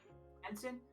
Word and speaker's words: Tenzin: Tenzin.